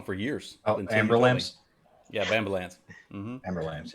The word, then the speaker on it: Aberlour: my my favorite bottle of whiskey, because I pronounced it wrong for years. Oh, Amber Lamps? Yeah, Amber Lamps. Amber Lamps, yeah. Amber Lamps. No, I said Aberlour for a long time, and Todd at some point goes, Aberlour.